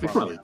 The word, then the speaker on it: MacFarlane: MacFarlane.